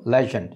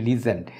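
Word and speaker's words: legend: পরেরটা হলো লেজেন্ড, যদিও আমরা এটাকে বলি লিজেন্ড কিন্তু এটা হবে আসলে লেজেন্ড, লেজেন্ড, লেজেন্ড।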